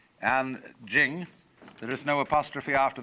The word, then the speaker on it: Jing: it's pronounced De, and Jing, there is no apostrophe after the CH, so if there were, it would be pronounced Ching, but it's Jing, like a J.